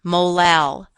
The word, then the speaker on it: molal: units of ethylene glycol notice that this term is pronounced molar the little m is pronounced molal a molal solution of